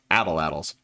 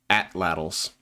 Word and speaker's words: atlatls: slings and bolos, and what for a long time I somewhat embarrassingly pronounced atlatls. In fact, it's pronounced atlatls.